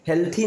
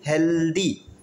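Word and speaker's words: healthy: इज हेल्दी होता है, ये क्या है, हेल्थी नहीं, हेल्दी, क्लियर है, अभी समझ में आया सारी चीज़ें, क्लियर.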